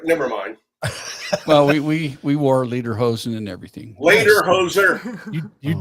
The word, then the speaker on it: lederhosen: well, we wore lederhosen and everything. Later, hoser. You did it up right. Yeah, That's the only way I could learn how to say it was say later, hoser.